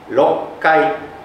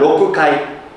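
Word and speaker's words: 六回: Rokkai . Ini bukan "rokukai." Karena "ku" dan "ka" bersebelahan, jadi agak sulit untuk diucapkan.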